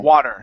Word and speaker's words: water: okay now once again on water you want to use an a sound instead of wo water so it's a water so let's try that